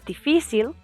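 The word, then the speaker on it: difícil: used to the fil the reason why it sounds like that is because we have to emphasize the I there's an accent over the I so we emphasize that syllable difficult is defil if it's plural noun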